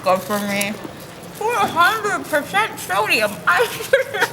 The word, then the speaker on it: X: be Tournament of Terror 10 like Mac OS 10 it looks like an X pronounced 10 yeah you know like